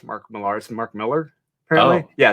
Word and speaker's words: Millar: pronounced mark millar's mark miller apparently yeah it's just spelled differently this miller okay and